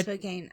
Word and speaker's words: Spokane: one is Spokan yeah it's Spokan Spokane no it's Spokan Spokan yeah isn't it right I'm sure that was what that was what the thing I I Spokane I I have always